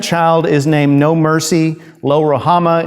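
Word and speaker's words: Lo-Ruhamah: is named no mercy lo rohama is the is the hebrew pronunciation terrible name to give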